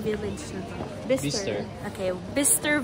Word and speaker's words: Bicester: Okay, Bicster Village. That's how you say it.